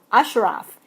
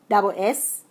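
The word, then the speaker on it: Assaraf: Ashraf. It's John Asaraf. Ashraf. It's pronounced Ashraf, but it's Asaraf. I think he's Israeli, so his name sounds like whatever, but it is read like that.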